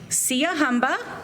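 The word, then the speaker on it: Siyahamba: going to go over how to say the words with you um Sia humba say it again there you go that's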